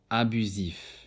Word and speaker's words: abusif: S often between 2 vowels is pronounced as Z, sosie, abusif.